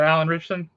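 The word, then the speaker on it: Alan Ritchson: You're talking about Alan Richson.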